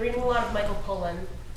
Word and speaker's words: Pollan: I've been reading a lot of Michael Pollan. How do you pronounce his last name? Pollan? Pollan, like you said, Pollan.